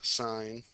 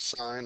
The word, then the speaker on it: sine: All right, sine on the calculator, it's sin. I still want you to pronounce it sine. I don't want you to say sin.